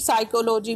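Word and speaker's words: psychology: सकता आपके मैं की साइकोलोजी में कौन सा लैटर साइलेंट तो इससे तो उसमें भी पी लेटर साइलेंट होता है नेक्स्ट देखते हैं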